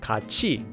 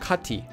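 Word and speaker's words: 같이: For example, this word would be pronounced as kachi and not kati.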